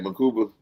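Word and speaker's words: Mukuba: Oh yeah, it was right, Makuba.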